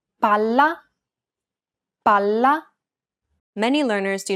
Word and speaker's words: palla: Unlike English, double consonants must be pronounced clearly and held for longer periods of time in Italian. Failure to do so could result in miscommunication. Pala. Palla. Remember how Italian is a syllable-timed language? Imagine that you're holding that consonant sound for one extra syllable.